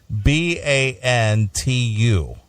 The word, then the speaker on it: Bantu: She put her hair in what they call you pronounce this. I don't want Doghouse to give me a hard time. It's Bantu.